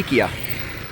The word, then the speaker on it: IKEA: They might pronounce it in a different way. I say IKEA, they say Ekea. But, when in Rome, I'll say Ekea.